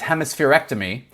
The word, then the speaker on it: hemispherectomy: Kind of to your point at the beginning, what the way you pronounce it is hemispherectomy.